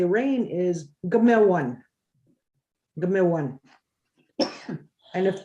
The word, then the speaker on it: awan: spelt a-w-a-n but we we don't pronounce the a it's one when we talk about